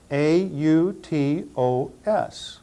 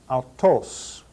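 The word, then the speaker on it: αὐτός: This word would be transliterated into an English word that we already know, A-U-T-O-S. We will pronounce this word in Greek, autos, autos, autos.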